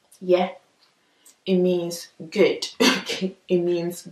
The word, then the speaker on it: ye: so if i say yeah yeah yeah basically i'm not really opening my mouth i'm not opening my mouth like wide it's just a kind